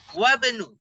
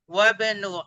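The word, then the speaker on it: وابن: Hamzah wasl dibaca. Wabnu. Di tengah nggak dibaca. Wabnu Hamidin fil jamiati.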